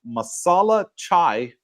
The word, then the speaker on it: masala chai: this, have a coffee on me, buy a masala chai for Mr. Singh. What Thank the you. heck is is it pronounced right?